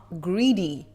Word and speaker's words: Grede: And based on what I've learned on this Emma Greedy Greedy character, and yes, apparently that's how you pronounce it.